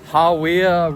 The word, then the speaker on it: Hawea: All right, so we got to this Hawya River track. That's how you pronounce it.